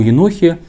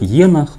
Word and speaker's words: Енох: реальное и маловероятное о Енохе, сегодня мы и поговорим. Итак, во-первых, имя Енох в русском языке часто возникает ударение на первый слог «енах», ну, правильно, все-таки «енох».